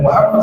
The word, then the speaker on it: Muhammad: harus wajib mendatangi nabi Muhammad sallallahu alaii wasallam karena magamnya Rasulullah Muhammad bacanya Muhammad yang benar tu Muhammad ya kadang-kadang kalau cepat-cepat yang Betulnya muhammadah itu ada Sir bukan Muhammad Muhammad ada tasjid nabi Allah Muhammad Sallallahu Alaihi